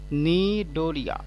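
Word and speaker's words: Cnidaria: এটা হচ্ছে নিডোরিয়া, সিটা সাইলেন্ট থাকবে, নিডোরিয়া।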